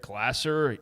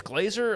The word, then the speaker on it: Glasser: So Derek Glasser, and I just thought maybe it's Glazer. I don't know exactly, but Derek Glasser is how you pronounce it out.